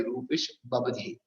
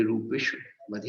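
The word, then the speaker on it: रूपिष्ववधेः: हाँ, अब हमारे भैया जी एक पढ़ रहे थे रूपेश बबधे, रूपेश बबधे उच्चारण उन्होंने किया था, पर गुरु जी थे वहां, तो मैंने कहा पंडित जी बताओ कि रूपेश बबधे पढ़ना है कि रूपेश बधे पढ़ना है। बोले रूपेश बधे ही पढ़ा जाएगा, रूपेश बबधे नहीं पढ़ा जाएगा।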